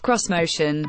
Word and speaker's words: Xmotion: Whether the Xmotion, pronounced cross-motion, will ever see the light of day is debatable.